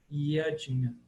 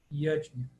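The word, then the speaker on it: yajña: Então, Yadnya, Yadnya.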